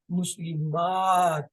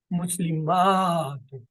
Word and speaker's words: مسلمات: مسلمتن سے مسلمات، تھوڑا سا کھینچ کے ادا کرتے ہیں تاکہ الف کا تلفظ آ جائے اور فرق ہو جائے کہ ہم واحد نہیں بول رہے، جمع بول رہے، مسلمتن مسلمات۔ اسی طریقے سے اب